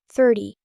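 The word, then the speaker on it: thirty: 30 and 13 sound similar. Be careful. 30 has stress on the first part. 13 has stress on the second part.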